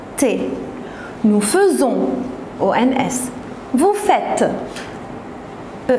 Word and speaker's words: faisons: la première chose que pour nous on l'a prononcée faisant pourtant on l'écrit avec happy alors faites attention on dit nous faisons et vous pour le